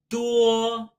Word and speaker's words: 多: The first of which, 多, 多. Think the ending pronunciation of 国, country. 多.